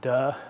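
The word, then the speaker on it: 德: The second is this idea, unfortunately in modern Mandarin it's pronounced duh, which always makes my students giggle.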